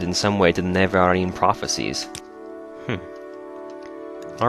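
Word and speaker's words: Nerevarine: time pronouncing that because as a kid I always just read it neverin but it definitely has four syllables it's Narin uh like Narin the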